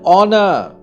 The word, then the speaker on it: honor: But the pronunciation of all these three words start with a vowel sound because the letter H is silent in all these words.